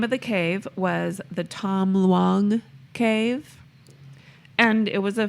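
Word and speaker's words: Tham Luang: Was that two syllables or three? Ton long? It's 2 words. Okay. Tom, Tom. T-H-A-M, Okay. Oh, okay. Luong, Luang. Got it.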